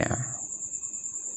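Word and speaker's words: know: কে এর উচ্চারণ হয় না যেমন কে এন আই জি এইচ T night কে এর উচ্চারণ হবে না কে এন ও ডব্লিউ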